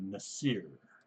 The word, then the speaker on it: Nasir: All right, next we have Nasir. That's how you pronounce it.